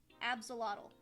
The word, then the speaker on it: Absol: what the only reason why ABB zle aelott Absol there we go that's the that's how you